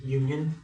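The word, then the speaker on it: ∪: The u is actually pronounced union, but you say or.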